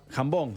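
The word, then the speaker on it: jambon: Se dice jambón. Se dice jambón.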